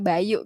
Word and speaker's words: by.yu: Bukan nama orang Bayu, tapi memang pengucapannya tuh kayak nama orang gitu ya, Bayu gitu ya.